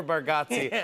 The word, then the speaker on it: Bargatze: -If you want a jury, don't never have Nate Bargatze or "Bar-got-see" on your jury.